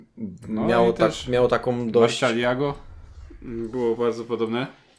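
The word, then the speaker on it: Murciélago: Marcialiago było bardzo podobne. W zależności chyba, kto to wymawia. Włosi chyba Murcielago mówią, ale ja se tak wymawiam, bo jestem Polakiem. Po angielsku Murcielago, ale to raczej bez znaczenia.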